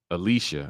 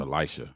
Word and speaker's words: Elisha: Michael Beach married Alicia. I think that's how you say it. It's spelled Elisha, like the Bible, but I think it's Alicia.